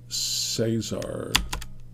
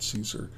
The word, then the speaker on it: Cesar: call him Roger okay Cesar they call it call him Cesar not Caesar uh pops out with